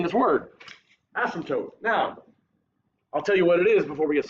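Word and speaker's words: asymptote: you pronounce that word asymptot asymptot okay no so you the way you say it the p is silent like in pterodactyl you know pterodactyl has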